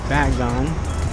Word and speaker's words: Bagon: We're gonna go up there to look at our shiny Bagon.